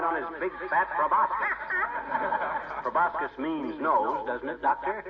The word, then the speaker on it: proboscis: Proboscis means nose, doesn't it, Doctor? It's proboscis, my boy. The C is silent, like a husband in a millinery shop.